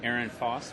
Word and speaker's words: Ehrenfoss: On Twitter, I'm Aaron Foss, but it's spelled weird. It's EHRENFOSS.